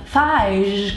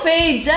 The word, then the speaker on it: Fage: E questo qua il fige che ho scoperto che non si pronuncia. Io fage, eh, tutto figo lo yogurto. Fage fag, cio cioè veramente ho sbagliato sempre.